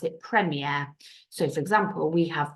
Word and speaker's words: premier: actually but we don't pronounce it prier we pronounce it premere so for example we have the Premier League